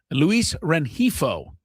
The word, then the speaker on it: Luis Rengifo: Luis Rengifo, which is the only name that Skraby has ever pronounced correctly.